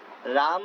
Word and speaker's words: राम: रहा था बीच में कि कृष्णा नहीं कृष्ण बोलना चाहिए, रामो या रामा नहीं राम बोलना चाहिए, अच्छे से उच्चारण करना चाहिए हरि नाम का, है ना, वरना उसका फल नहीं मिलता।